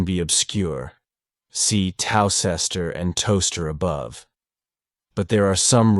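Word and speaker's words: Towcester: town in North hamptonshire a toaster is a cooking Implement for toasting bread the two words are written WR very differently but pronounced the same while you cannot learn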